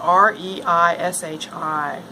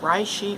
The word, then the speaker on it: Reishi: So I'm starting with the Reishi mushroom, spelled R-E-I-S-H-I. It might be pronounced Reishi or Reishi.